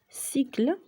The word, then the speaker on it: cycle: cycle, C plus Y, cycle, دورة تعني.